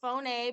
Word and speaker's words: phoneme: it looks just like phone guys but it's pronounced phone a but if you say phone that's fine okay